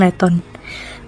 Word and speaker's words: Leighton: Referensi lain menyebut masyarakat Pekanbaru lebih akrab menyebut jembatan Siak ini sebagai jembatan Leton. Leton pelafalan simpel dari Leighton.